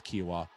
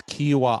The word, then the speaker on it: Kiawah: to say it but i think it's kiwa uh and it's uh it's not quinoa oh yeah they're doing the commercial that's funny anyway um it's kiwa island in south carolina